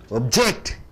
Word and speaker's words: object: ஒப்ஜெக்ட். ஜெக்ட் கழுத்தம் கொடுக்கணும். Half கழுத்தம் கொடுத்துட்டீங்கன்னா பொருள். ஜெக்ட் கழுத்தம் கொடுத்துட்டீங்கன்னா நான் எதிர்க்கிறேன், மறுக்கிறேன். ப்ராஜெக்ட் என்று சொல்லுவோம்.